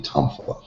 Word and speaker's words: Tuifa: Now, they say that Shimabuku Tatsuo Sensei said it Tuifa. And here in America, some people say Tonfa, Tonfa.